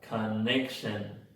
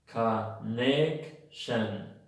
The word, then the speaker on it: connection: Hay dos schwas en la palabra connection. ¿Las encontraste? Bueno, si no las encontraste, están en la primera y en la tercera sílaba. La palabra que lleva la fuerza aquí es la sílaba neck. Connection. Connection. Si te das cuenta, las dos sílabas débiles, que están en la primera sílaba y en la tercera sílaba, son schwas.